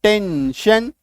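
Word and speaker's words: tension: TION यानी कि TION और SION, ये क्या करता है? आई जो है इनके साथ मिल करके अपना अलग खिचड़ी पकाता है, और ये क्या बन जाता है? शन, श।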